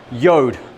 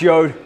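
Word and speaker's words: Jord: out to these guys yod pronounce yod j-o-r-d they make uh these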